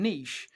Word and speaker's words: niche: they nearly always rhyme Niche with but if you were a European rapper you would be saying Niche and there's not that much that rhymes with Niche but the the rhyme